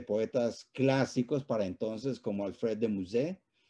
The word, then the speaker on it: Alfred de Musset: clásicos para entonces como alfred de musset como vamos a pronunciarlo a la francesa como hijo víctor hugo